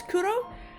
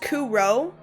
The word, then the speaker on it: Kuro: Even though most people in my family can't pronounce Kuro, but it's just Kuro. But I roll my R's, so I say Kuro.